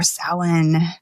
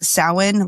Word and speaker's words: Samhain: The most common pronunciation you will hear is Samhain, like sow as in like a female pig, and wins. So Samhain, or you'll hear Samhain.